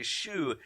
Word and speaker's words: choux: Choux. If you spell it S-H-O-E or S-H-O-O, absolutely fine. The correct spelling is C-H-O-U-X. It's French, but we're not going to pick you up on incorrect spelling.